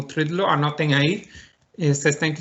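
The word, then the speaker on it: trdlo: em Praga, é o trudlo, que é muito difícil de pronunciar, T-R-D-L-O, ou seja, 4 consonantes seguidas, mas é um doce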